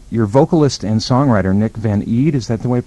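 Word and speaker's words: Van Eede: Your vocalist and songwriter, Nick Van Eed, is that the way to pronounce his name?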